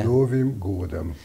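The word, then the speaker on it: С Новым годом: Ez az, kérdezzük a megfelelő napközist, akkor még egyszer helyesen kiejtve. Szlovim Gódem.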